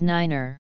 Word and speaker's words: niner: clearer enunciation and for the same reason pronounces the numeral nine as niner i c a o